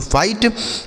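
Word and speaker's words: fight: Next word है दोस्तों एफ आई जी एच टी। तो एफ से हो जाता है फा। आई का उच्चारण आई जी एच टी से ट। इसे पढ़ा जाता है दोस्तों फाइट।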